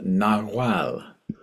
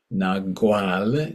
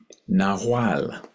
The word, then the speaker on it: Nahual: The glyphs are called Nahual, or Nagual, if you want to pronounce the G, like Guatemala, but the Maya themselves say Guatemala and Nahual.